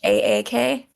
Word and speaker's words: Hack: The character's name is Sunny, Hack, Sunny? but I pronounced like Haak, like little Scandinavian style.